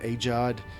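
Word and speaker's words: AGEOD: enjoyed my a games that's how I pronounce a AE a g e o d aad is how I've always pronounced it I've heard people pronounce it aod aod aod or I don't know but anyway thank you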